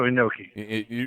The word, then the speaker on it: Inoki: Antonio Inoki.